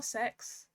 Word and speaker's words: CeX: that i did from cex um or sex that's how they pronounce it c e x or sex um but i just